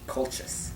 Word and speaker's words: Colchis: Once Jason and many other Greek heroes sailed to Colchis. colchis. Colchis. Yeah, you pronounced that CH correctly. It's K in Latin.